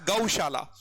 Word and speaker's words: गौशाला: होता है उसको हम गौशाला बोलते हैं क्या बोलते हैं गौशाला चीजें हिंदी में भी ढंग से पढ़ेंगे गो नहीं होता गौशाला ठीक है प्ले पेन